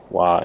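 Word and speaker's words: わ: The official sound is that this should sound like the wa in maybe water, depending on how you pronounce water. If you know the convenience store that exists in some places in the US, there's a store called Wawa. That is exactly how it sounds.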